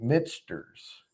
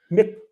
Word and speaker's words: Michter's: you pronounce it Michter's, you're pronouncing it wrong. Mixters.